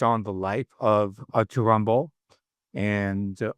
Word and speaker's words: Rimbaud: It's spelled Rimbaud, r a r i m b e a u d, but the name is pronounced Rimbaud.